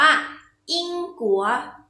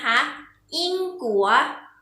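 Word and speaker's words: 英国: คะ ประเทศ อังกฤษ ภาษา จีน ออก เสียง ว่า อิง กั๋ว อิง กลัว อีก ครั้ง นะ คะ อิง กั๋ว ใน เด็ก เรา ออก เสียง ที่ คะ และ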